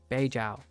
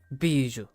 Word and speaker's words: Bijou: Beijao. Bijou.